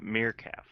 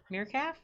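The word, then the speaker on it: Mirfak: a bastardization of it so it's like mere cat but cat with an f with an f so it's like a meerkat and a calf together meerkat i'm going to remember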